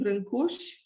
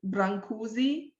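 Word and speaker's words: Brâncuși: and it is a sculpture made by constantine brinkus or as many people call him brancusi maybe you heard his name uh being pronounced like this constantin timberland kush is romania's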